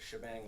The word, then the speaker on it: shebang: all using these various shebang lines yeah so you probably all know this as well but it's just the common way to pronounce the the pound exclamation point in the beginning it's